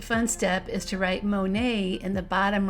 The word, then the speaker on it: Monet: up one last fun step is to write Monae in the bottom right corner with that white crayon it's spelled m o n t and it'll REM